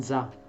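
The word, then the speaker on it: ざ: Y entonces la sa se transforma en za. Za. Sonido de la Z.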